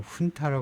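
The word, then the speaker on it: junta: 지배하고 있는 군사 정부입니다이 우리가 준타라 하하고 훈타 발음하죠 이게 원래 스패니시 쪽에서 왔기 때문에를 h 발음하죠 그래서 그 군사 정보로도 가고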